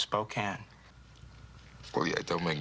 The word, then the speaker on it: Spokane: Well, let me tell you, if I'd have been from 50 miles outside of Spokane... Spokane. It's pronounced Spokane.